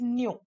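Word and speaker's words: ν: It is denoted by the symbol pronounced as nu.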